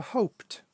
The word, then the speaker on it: hoped: Sometimes the ed is pronounced like a t, so hoped.